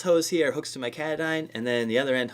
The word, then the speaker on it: Katadyn: said katadyn base camp made by katadyn not Katahdin I think when I first got it I pronounced it wrong the old one came